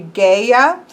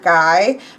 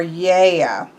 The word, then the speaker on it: Gaia: Chris said that this is very often mispronounced. Technically, it should be Gaia, not Guy, more Gaia. But then in Greek, it would be more Yea. So not that there's not a G sound there.